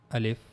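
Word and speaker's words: ألف: So now the articulation point of the al if as you can see in this picture this is the pronouncing point of the al if the empty space of your mouth.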